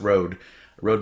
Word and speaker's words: Rode: a roadie microphone or I think it's pronounced rode rode microphone and that's the one